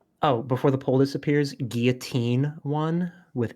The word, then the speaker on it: guillotine: The French pronounced it like that. True. Guillotine is the correct French pronunciation, named after the doctor who invented it.